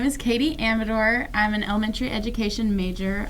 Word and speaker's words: Amador: Also, we've all been saying your name wrong, I just realized, because you say Amador, Yeah, and we've all been saying Amador.